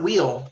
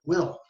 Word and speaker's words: will: beautiful it's his him will not wheel like a tire will did not need still